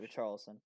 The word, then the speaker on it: Richarlison: Richarlison, am I saying his name wrong? No, that's Sure. right, Richarlison.